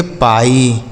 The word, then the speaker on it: pie: Last में रहेगा तो आई का उच्चारण, जैसे डाई, लाई, पाई, टाई।